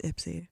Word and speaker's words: Ypsi: And her family is from Ypsi. Oh, my God. Yeah. He also said it wrong. It's Ipsy.